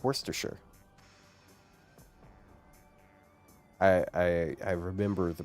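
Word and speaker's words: Worcestershire: It's like worse with the C and then stir and then sure. So it's worsture.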